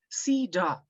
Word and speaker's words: CEDAW: of Discrimination Against Women, otherwise known as CEDAW, pronounced CEDAW, where, until recently, she served 2 consecutive terms as vice chair.